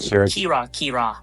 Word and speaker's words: kira-kira: Remember, kira-kira is pronounced kira-kira.